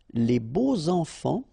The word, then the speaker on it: beaux enfants: And here it's quite interesting because even if you've got this X, well, phonetically it will be like Z, so like if it would be an S, okay?